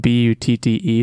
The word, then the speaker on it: Butte: going with blueberry beaut beaut is spelled bu TT e so it looks like but but it's it's Butte if you've not familiar